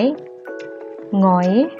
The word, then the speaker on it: หงอย: หงาย หงอย เหงา เงา นัก เรียน จะ สังเกต ว่า เวลา แกะ ออก เสียง นะ คะ มัน จะ ออก เสียง เป็น ตัว งู นะ คะ ออก เสียง เป็น พยัญชนะ ตัว ที่ 2 ค่ะ ไม่ ออก เสียง ตัว หน้า นะ คะ ต่อ มา นะ